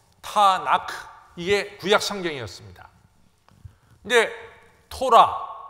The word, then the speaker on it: 타나크: 그러니까 TNK 말하기 어려우니까 거기다가 A자를 붙어갖고 타나크, 이게 구약 성경이었습니다.